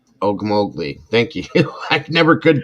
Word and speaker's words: Okmulgee: I was going to say the way you say the city name is Okmulgee. Okmulgee.